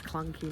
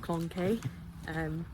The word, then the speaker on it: clunky: So just now I thought I was saying that I've got clunky shoes on, and corrected me by saying it's clunky, not clonky.